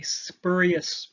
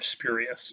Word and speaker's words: spurious: it's what's sometimes called a spurious or spurious, people pronounce it both ways, correlation, in that it's spurious just means that it's not real.